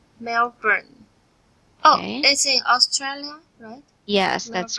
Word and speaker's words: Melbourne: she was home alone in Melbourne sorry it's pronounced as Melbourne Melbourne oh yes that's correct and the other word